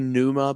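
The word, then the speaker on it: Pneuma: song is probably probably Numa by tulle p n e m a i think is how you say it and then my favorite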